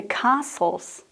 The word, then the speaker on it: castle: did some sightseeing the castles and Gardens were gorgeous pay attention to the pronunciation of the word Castle I don't say the tea Castle and the last word